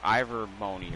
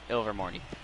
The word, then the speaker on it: Ilvermorny: Rowling announced like, oh yeah, there's an American version of Hogwarts, Mount Ivermorny, or however you actually pronounce it, I don't know, Ilvermorny.